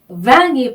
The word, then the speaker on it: vin: 네, 이 n은요, 프랑스어로는 un 발음이 나요. un 이렇게 발음을 하셔야 되는데요. 에 발음을 코로 올려서 내는 발음입니다.